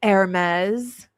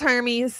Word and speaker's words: Hermes: I said, "Do you pronounce it like the uh clothing line, the expensive clothing Hermes?" She said, "No, it's Hermes."